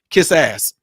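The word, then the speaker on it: quizás: give you an example kiss ass right kiss ass that means perhaps in Spanish it's literally how you say it kiss ass now what I'm saying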